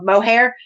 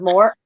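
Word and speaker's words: Moher: the cliffs of moore i kept saying it wrong the whole time i kept calling it the cliffs of mohair and that's not it that's it's cliffs of moore um so yeah i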